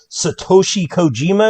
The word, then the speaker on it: Satoshi Kojima: ma said moxie we have max taking on satoshi kojima is that correct uh correctly pronounced attaboy that's it so again i'm not